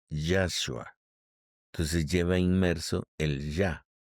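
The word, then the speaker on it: ישוע: del mesías Cristo Jesús el nombre real y la forma como se pronuncia el nombre de Jesús en el hebreo es yashua entonces lleva inmerso el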